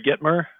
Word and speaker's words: Gitomer: Jeffrey Gitomer, I think is how you pronounce his last name.